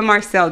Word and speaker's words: Marcille: person, you guys, Eva Marcille. Did I say it right? You said it right.